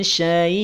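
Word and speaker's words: شيء: Hamzah yang semula tanwin kasroh, maka saat waqaf dia akan berubah menjadi sukun. Saat mengucapkannya, saat membacanya, maka putus suaranya. Min syai', min syai'.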